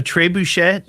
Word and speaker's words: trebuchet: Is that how you pronounce it? Trebuchet? Yay or nay? True bucket? I think that's why all the Wiccan people gather there. There is an entry fee. Trebuchet. Trebuchet. Like Bobby Boucher.